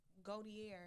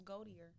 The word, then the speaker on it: Gautier: and it's kind of who is pronounced goat Gautier yeah I like it so much more now I thought it was goldier no I'll go there